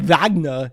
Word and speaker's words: Wagner: important it's important that when you say vagna you say it like Arnold Schwarzenegger Wagner because otherwise Ralph will